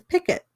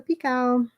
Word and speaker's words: picot: And when I read picot, I thought it was picket because it's spelled Picot, but it's a picot.